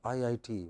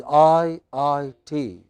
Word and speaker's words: IIT: Yeah, it is IIT. Very clear pronunciation and wherever you have a series of letters, the emphasis is on the last letter in abbreviations, but each letter must also be pronounced clearly.